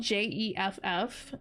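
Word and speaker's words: Geoff: but it's not spelled j e FF it's spelled g e o FF so it's spelled like gof but it's Jeff I had a coworker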